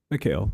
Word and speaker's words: Mikhail: Mikhail, like Gorbachev.